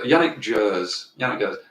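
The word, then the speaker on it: Yannick Gers: now and embarrass embarrassingly don't know how to pronounce his name uh yannick go yannick jers that bloke uh who swings his guitar rings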